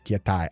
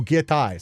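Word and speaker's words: giatay: Giete translates to damn, curses, pronounced as gietai. Oh, gietai.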